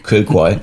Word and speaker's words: Kilcoy: Kilcoy. Yeah. Kilcoy. Kilcoy is like Kill Bill. Kill Bill was Kilcoy. It's like kill and coy.